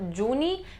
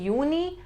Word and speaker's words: Juni: Do remember that in German we pronounce J as Y. So it's not Juni, it'll be Juni and then Juli.